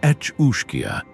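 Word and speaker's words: each-uisge: hushed and fearful tones, the each uish pronounced etchia.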